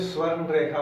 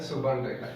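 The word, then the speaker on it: Subarnarekha: ये देखिएगा, इसे हिंदी में स्वर्ण रेखा बोलते हैं और इंग्लिश में इसका प्रोनाउंसिएशन है सुबर्ण रेखा, ठीक है।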